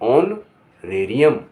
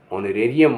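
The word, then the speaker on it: honorarium: HONORARIAM ऑनरेरियम, ऑनरेरियम माने सम्मान के लिए दिया गया पारिश्रमिक। अब जहाँ के साइलेंट होगा वहाँ मैं बताता हूँ।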